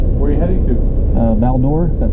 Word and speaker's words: Val-d'Or: on your vehicle where are you heading to baldur that's how you pronounce it bear hunting bring any firearms nope